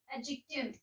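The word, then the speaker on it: adjective: ध्यान रखना है कि कभी भी अगर ए और जे के बीच में डी आ जाए तो ये हो जाता है साइलेंट। ठीक है, कोई भी वर्ड जिसमें ए डी और जे साथ में आ रहे हैं वहां पे डी साइलेंट हो जाता है तो हम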